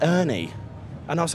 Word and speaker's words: Urne: But yeah, the Scandies pronounce it the best. You know, they're like, Urne.